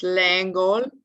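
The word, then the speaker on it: Lengel: to point out um lengle the name lengle the name of the of sammy's boss if you said that in french it's langol uh you know angel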